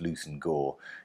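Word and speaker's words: Leveson-Gower: fellow here is Francis Lucen Gore is one of those English names that you sort of don't pronounce as you spell it it looks like it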